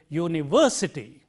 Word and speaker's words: university: it is were and therefore we say university the highlighting is on this syllable university I study in a university it is not University it is not ust but it is university this work has to be highlighted and similarly or take